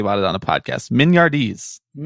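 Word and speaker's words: mignardises: something that i had to look up the pronunciation of before talking about it on a podcast mignardis when you sent me uh what it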